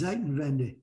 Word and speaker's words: Zeitenwende: Zeitenwende.